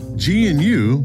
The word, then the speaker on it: GNU: centers and in cloud deployments nerd reference gnu pronounced gnu stands for good news not unix it